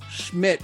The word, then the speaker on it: Schmidt: We have Greg Covey and we've got Dwight Schmidt.